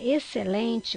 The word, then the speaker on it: excelente: Então, a palavra excelente, quando você chama essa palavra, qual é a sílaba mais forte? Vamos ver? Excelente! Então, é o LEM.